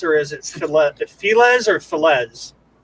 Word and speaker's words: Felez: Is that how you say his name, Felez, or is it Felez or Felez? In a Spanish way, it's Felez. Felez.